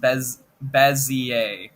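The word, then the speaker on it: Bézier: Multiple pronunciation videos later, it is pronounced Bezier.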